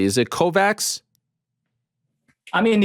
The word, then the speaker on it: Kovacs: Is it Kovacs? I mean, if you go to Hungary, where I was born and where I live, it's you say Kovacs. Kovacs, yeah. But everywhere else, mostly it's Kovacs.